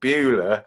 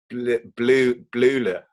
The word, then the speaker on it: Bleuler: It's not Bueller, it's Blue. Blula.